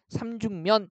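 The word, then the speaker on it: 삼죽면: 한글 표기가 아니라 로마자 표기에서 얘가 발음이 삼중면 이렇게 발음되기는 하는데 붙임표 붙이는 자리 앞뒤에 나타나는 음운 변동 반영하지 않기 때문에 삼죽 이렇게 쓰고 그다음에 면 이렇게 쓰게 된다는 거죠.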